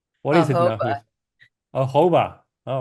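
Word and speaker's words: jojoba: and um I just learned how to actually pronounce yoyoba it's not yoyoba it's what is it h oh hoba all right that's that's much better and Almon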